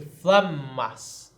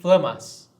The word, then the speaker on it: flammas: Então, se nós disséssemos flammas, nós teríamos que dizer assim, flammas, certo? Flammas, não vamos dizer flamas, né?